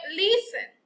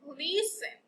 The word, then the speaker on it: listen: And the last one, listen. The word that has a silent letter, listen. Which one is the silent letter? The letter T.